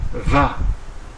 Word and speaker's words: vas: tu on obtient tu vas attention au S à la fin qui est muet et qui ne se prononce pas conjuguons le verbe aller